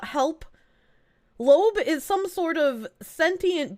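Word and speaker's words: Loab: probably break lobe whisper it's spelled l-o-a-b Loeb Loeb is a horrific Eldritch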